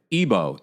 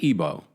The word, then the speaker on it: Igbo: Ebo. Ebo. Ebo. Right. Ebo. Thank you. Ebo. Ebo. I'm part of the tribe. Come on now. Okay. Thank you so much, guys. You know the G is silent.